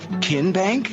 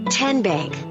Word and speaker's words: TN Bank: arena in three minutes how do you say the name tn bank no kin bank uh-uh so what is it ten bank ten as in tennessee right here where all